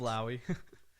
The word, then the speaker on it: Flowey: Flowey. Sure. Yes. That's how you say it.